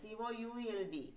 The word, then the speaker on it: could: Could it be that it was not required in the next shot? Could it? Could. Ivide oru L undu. COULD. Pakshe L ne nammal vaayikkanda. L is silent.